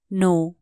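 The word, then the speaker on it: know: जानो लाइ के भने नो के एन O double you नो यहां के साइलेंट हु्छ तसले कनो है ना नो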